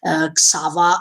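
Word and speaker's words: Xaver: In his memories, I mean, in the past before Xava, I call him Xava, that is the Japanese pronunciation, so I don't make mistakes.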